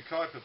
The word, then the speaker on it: Kuiper: It is pronounced Kuiper, I believe.